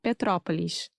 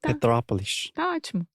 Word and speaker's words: Petrópolis: favor todos esses nomes Petrópolis Teresópolis são bem difíceis para mim sim Petrópolis mas é só pensar em petróleo e aí Petrópolis Então minha pronúncia está correta agora Petrópolis ótimo sim eu fui